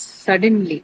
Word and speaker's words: suddenly: They are both adverbs, right? And has an ly suffix. So your stress has to be on the first syllable, right?